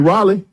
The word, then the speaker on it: Raleigh: You mean Raleigh? Raleigh. Oh, okay. Close enough. That's how you say it? How you say it again? Raleigh. You for real? Yeah. But it's spelled R-A-L-E-I-G-H. Raleigh. That's Raleigh.